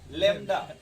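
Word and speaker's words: lambda: तो मतलब बोलिएगा लवंडा ठीक है, बट याद रखिएगा लैम्डा।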